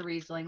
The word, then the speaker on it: Riesling: It's a Riesling.